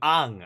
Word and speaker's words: Aang: I'm calling him Ang. It's because in Korea, like like the way the vowels are pronounced, that's what I'm going by. I'm not going by whatever the people who made the thing are saying it's pronounced by.